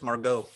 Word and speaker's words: Margot: It's Margot. The T is silent.